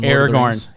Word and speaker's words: Aragorn: uh the one of the main characters from Aragorn Aragorn oh you're gonna like you just mispronounced the Lord of the Rings I love